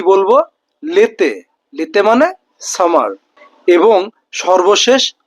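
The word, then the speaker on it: l'été: লেতে। লেতে বলতে ফরাসিতে সামারকে বোঝানো হয়। ফ্রান্সে জুন, জুলাই এবং আগস্টকে সামার ধরা হয়। তাহলে সামারকে আমরা ফরাসিতে কি বলব? লেতে।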